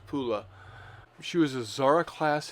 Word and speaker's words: Pula: the city of pola which is now in croatia and pronounced pula she was a zara